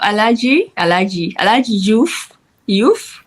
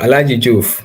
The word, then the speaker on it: Alagie: So ali youth is it all? You're taking the German pronunciation now. Alaji.